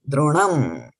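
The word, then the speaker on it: द्रोणं: When you break it down, it becomes a little bit difficult to start a word with ana syllable, but that's fine. As when you combine it, remember it has got to be droṇaṁ.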